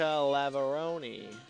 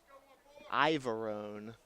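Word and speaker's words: Iavarone: 14 jessica lavaroni we'll check and see if we're we've got the correct pronunciation and she takes a few warm-up pitches right here and we did get a pronunciation check because that's jessica ivarone on the rubber on the mound for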